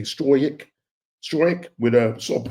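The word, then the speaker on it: Struijk: Um, I think it was Straick. Straic, that's how you pronounce his name. S t R U J I J K. Stroick.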